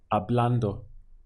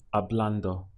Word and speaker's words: hablando: The word for talking in Spanish is hablando. Again, we ignore this H and just pronounce it from the A. So it would be hablando, hablando.